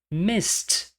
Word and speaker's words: missed: Miss, S é uma consoante sem som. Missed, missed. Novamente, na representação fonêmica, não existe som de vogal entre o S e o T. Missed.